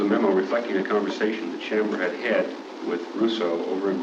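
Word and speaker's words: Sciambra: two memos that had been prepared by Mou Chambra, I think his name is pronounced, spelled S-C-I-A-M-B-R-A, an assistant district attorney, one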